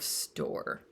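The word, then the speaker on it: Storr: I went to see the old man of store and that is spelled s t r r and if you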